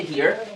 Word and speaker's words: here: এটার উচ্চারণ হচ্ছে হিয়ার। Here. উচ্চারণ কি? Here. হিয়ার। আর অর্থ হচ্ছে এখানে। জি, হিয়ার তো খরগোশ, ওইটা হেয়ার। ওইটা হেয়ার, HARE, তাই না? ওইটা হেয়ার, আর এটা হচ্ছে হিয়ার।